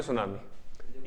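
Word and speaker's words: tsunami: हो अंग्रेजी में सुनामी सुनामी का स्पेलिंग क्या होगी कहां से स्टार्ट होगी सुनामी नहीं होती है टी से स्टार्ट होती है सुनामी टी साइलेंट होता है इस अंद सुनामी जो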